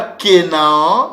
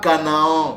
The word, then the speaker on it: Canaan: Kena ou Kenia donc le mot Canaan que vous lisez dans la Bible ce n'est pas canaon ce n'est pas aussi kenaan c'est Kena ou Kenia voilà la bonne prononciation le nom le mot